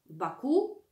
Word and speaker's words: Baku: lat mieszka w baku baku akcentujemy na ostatnią sylabę wokół dzisiaj jest to